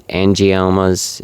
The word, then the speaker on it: angiomas: Uh the spider angomas uh an angiomas is that's how how it's pronounced.